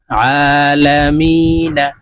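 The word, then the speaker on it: العالمين: আলা মিম ইয়া জের মি নুন জবর না আলামিনা নুনকে ওয়াকফুর ক্ষেত্রে সাকিন করে ফেলবো এখানে মি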